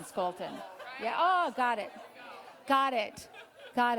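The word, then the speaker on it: Scholten: thank you thank you it's Scolton I said it right yeah you know what I thought of in Minnesota we say Vikings we say skull and so I was thinking Scolton yeah oh got it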